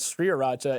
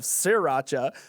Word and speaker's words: Sriracha: One, because Neal keeps pronouncing my product as Sriracha instead of Sriracha.